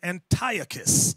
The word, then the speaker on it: Antiochus: Some people pronounce his name Antiochus. I've seen that on the Discovery Channel. Antiochus Antiochus, tomato, tomato.